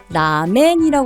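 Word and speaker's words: ラーメン: 한국 한국어로 표기를 하면 라멘이 쓰기 때문에 그거를 그대로 발음을 하시는데요 라멘 이것도 가다 가나에서이 짝대기 표시가 장음이아요 그러면 라행 길게 해주셔야 돼요 그리고 동이라는 소고기 덮밥이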